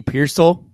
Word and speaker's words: Pearsall: Ricky Pearsall.